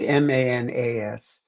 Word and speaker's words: manas: More like MANAS. AS. And yeah, and sometimes it's just MUN, like MAN, but phonetically you would write MUN, but the way Gotcha.